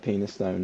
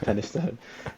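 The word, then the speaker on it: Penistone: It looks like penis stone, but it's pronounced Pennystone.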